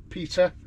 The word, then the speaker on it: Pita: Pizza but it's not Peter how you think it's spelled it's p-i-t-a which is Peter which stands for pain in the uh you've